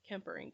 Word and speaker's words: Kemperink: do you pronounce it uh it's cecil kemperink uh k-e-m-p-e-r-i-n kempering it's amazing she's incredible